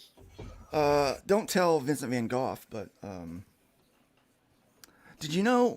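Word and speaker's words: Van Gogh: uh don't tell Vincent van off but um did you know we pronounce that wrong here in America it's not V it's not van go it's not van go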